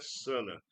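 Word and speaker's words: Sanaa: Vocês estão em Sana. Viu aí? A pronúncia é Sana.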